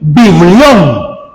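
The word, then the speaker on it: βιβλίον: Este nombre Biblia, hermano, es un vocablo griego que se pronuncia o se dice biblios o también biblión.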